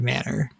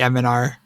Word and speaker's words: M-n-R: the next question can I be allowed to pronounce it MNR like the letters of the podcast instead of Manor and yeah that's fine you could say the m r cast or the m r podcast there are